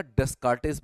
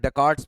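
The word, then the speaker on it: Descartes: इसका पता लगाने के लिए मैंने आपको बताया था डेस्कार्टेस मेथड, सही प्रोनाउंसिएशन है डेकार्ट्स मेथड। तो डेकार्ट्स को लिखते हैं हम डेस्कार्टे।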